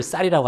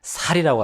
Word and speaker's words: 쌀: 또 우리 서울 사람들이 우리 별을 쌀이라고 하잖아요. 근데 저기 경상도 분들 중에는 살이라고 합니다. 쌀 이거 발음 못하는 한국 사람들도 있어요. 선교사님, 이거 발음 못해서 살 하기도 합니다.